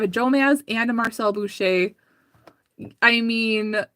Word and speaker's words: Boucher: So Marcel Boucher, that's how you say it, is B-O-U-C-H-E-R.